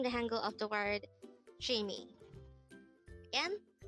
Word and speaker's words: 취미: 취미. 취미. This is pronounced as a two-syllable word. The first syllable is 취, second syllable is 미. Pronounce it with me. 취미.